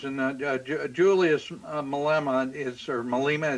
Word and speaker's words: Malema: Julius Malema is served Malema is that the right pronunciation Mille Emma yeah Mille Emma he he has been